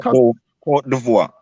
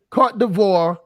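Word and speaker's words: Côte d'Ivoire: Cote d'Ivoire. Cote d'Ivoire, and Burkina Faso, Ghana should all be one country.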